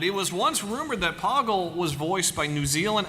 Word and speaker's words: Poggle: okay toggle the Lesser so official pronunciation Poggle runs with Boggle uh number of dialogue